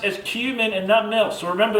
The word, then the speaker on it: cumin: Very properly pronounced as cumin and nothing else.